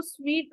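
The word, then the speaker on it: suite: Okay, और ये जो यहाँ पर सूट लिखा है वो है एक होटल का जो रूम होता है, इसको स्वीट प्रोनाउंस करते हैं, ये स्वीट है.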